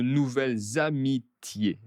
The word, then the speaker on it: nouvelles amitiés: Et attention à la liaison de nouvelles amitiés.